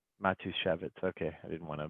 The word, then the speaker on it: Matushevitz: randy could you help me out with your pronouncing your last name sure matushevitz matushevitz okay i didn't want to butcher it um